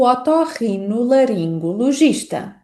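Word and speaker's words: otorrinolaringologista: E esta palavra pode aparecer em frases como não consegui marcar uma consulta para o otorrino laringo logista.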